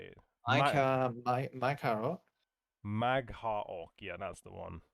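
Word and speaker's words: Mag'har: Magha Orc.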